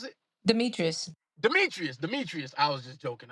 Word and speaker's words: Demetrius: Just play Demary, how you pronounce it? Demetrius.